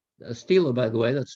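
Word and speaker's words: stele: connection with this was the discovery of a Stila a Steeler by the way that's spelled s-t-e-l-e it's a rectangle it's a term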